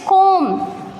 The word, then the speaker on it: comb: Here B is silent, it is comb.